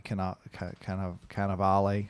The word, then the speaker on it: Cannavale: Well, Ed Norton, but also Bruce Willis and Willem Dafoe and Alec Baldwin, and just Bobby Cannavale, if I can pronounce that correctly.